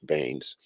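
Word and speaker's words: Beanes: remember the name William Baines b-e-a-n-e-s is spelled beans but it's pronounced Baines and uh it's that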